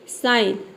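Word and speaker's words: sign: हो जाएगा ठीक है साइन साइन में आपने कभी ध्यान दिया है आपने साइन बहुत जगह प पढ़ा है लेकिन यहां पे देखिए साइन हम क्यों पढ़ते हैं क्योंकि जी लेटर साइलेंट है वर्ड के अंत में अंत में भी अगर जी एन आता है तो वहां पर भी हम केवल न पढ़ेंगे जैसे कि साइन ठीक उसी तरह से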